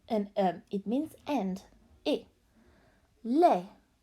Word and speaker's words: les: Les, silent S.